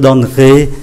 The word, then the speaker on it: donnerai: sẽ để ý là cái syllable mang ký tự ơ nó nằm ở giữa này thì chúng ta không có đọc, chúng ta không phát âm.